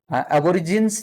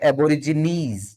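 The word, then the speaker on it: Aborigines: एबोरिजिन्स नहीं बोलेंगे, इनको बोलेंगे एबोरिजिनीज. नीज शब्द का प्रयोग आपको प्रोनाउंसिएशन का यूज करना है.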